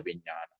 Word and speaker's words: vijnana: They call it alaya vijnana. Alaya is house, or storage. ALAYA, long A, pronounced longer R, LAYA, alaya.